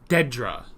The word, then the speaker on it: Dedra: can find it so give me a sec Dedra that was it not Miro okay so Miro must have been the guy I'm going to just kind of cross that out Dedra okay that was driving me nuts the whole